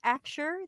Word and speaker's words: Axure: It's got an X, and it's pronounced AXURE.